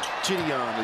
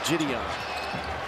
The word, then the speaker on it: Jidion: Marty there she knows it's jyon jyon is how you say his name jyon oh oh okay so